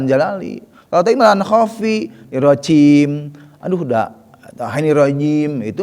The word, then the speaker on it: rajim: Tuh, bukan irojim. Masih banyak Pak pengucapan irojim. Masih banyak. Salah enggak? Enggak salah sih. Tapi kurang fasih gitu, kurang tepat. Enggak salah itu, ya. Tidak meleset jauh gitu. Hanya kurang tepat gitu.